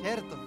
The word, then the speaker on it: certo: Alexandra cierto cto y sabes que cherto se dice cierto es verdad es cherto certo Cómo se dice buenas